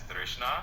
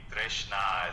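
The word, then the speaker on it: tṛṣṇā: So that will be pronounced as Trishna. Trishna. It's essentially that's absolutely. Trishna is a good way to say it, and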